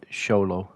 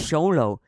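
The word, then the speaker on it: Xolo: actor who plays him I don't want to pronounce his name I don't want to try it it's sholo oh yeah it's sholo solo I only know that because Hulk's character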